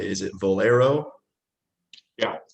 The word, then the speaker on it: Valero: there's so i'm saying it right is it valero yeah sounds like the gas station but not